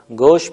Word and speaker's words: گوش: کا لفظ ہے اور گوش بھی، ہم اسے گوش تلفظ کرتے ہیں، اور خرگوش کو خرگوش